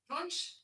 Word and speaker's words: Wunsch: In German, desire is Wunsch. Wunsch. Okay, Siri, danke. Nope. Apparently it's Wunsch. Wunsch. Ich habe Wunsch für dir.